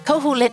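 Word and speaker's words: Koholint: You are on Cahulit Island. I I think that's the correct pronunciation for the island, by the way.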